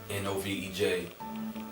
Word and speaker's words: Novej: and spelled it backwards, N-O-V-E-J, and that's how I came up with Novej. I pronounced it, with the J being silent, and did further research